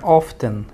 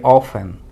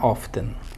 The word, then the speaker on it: often: que aquí es más es más educado Y es más elegante pronunciar often que ofen porque hay muchas personas que recomiendan que se pronuncie ofen pero mi profesor de inglés siendo hablante nativo él me ha dicho que es mejor pronunciar often 57 best o también